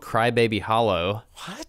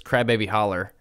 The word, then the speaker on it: Crybaby Holler: there's another one called crybaby Hollow which is not how you say it I'm kind of sanitizing memory but it's crybaby holler okay so crybaby holler